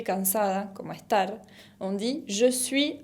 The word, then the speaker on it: je suis: La première personne du singulier se dice je suis, como ya vimos en la presentación. Je suis con una S final qui ne se prononce pas, que no se pronuncia.